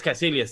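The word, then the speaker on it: Kaecilius: i believe his name was uh caissilius yes cassilius thank you um i just can't very pronounce it uh unless somebody else say it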